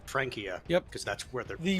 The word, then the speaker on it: Francia: And fun fact, the Frankish tribe is actually where France gets its name because back in the day it wasn't Francia, it was actually pronounced Frankia.